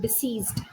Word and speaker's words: diseased: sounding word diseased yeah we have to be very careful with the sir and Z pronunciation here that is to make a world of difference right deceased someone who has passed